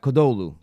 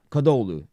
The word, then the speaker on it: Kadıoğlu: Kadıoğlu. Kadıoğlu is how it's pronounced.